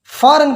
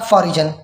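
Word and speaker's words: foreign: मेरे एक दोस्त है जिसने फॉरेन को प्रोनाउंस किया फॉरिजन प्रोनाउंस किया, और उसके बाद जो दोस्तों ने उसके साथ किया, ठीक है, अब तक करते आ रहे हैं।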